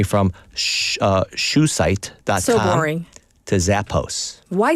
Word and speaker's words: Zappos: So should we be pronouncing it Zappos? Zappos, yes. Instead of Zappos, Yes. so American.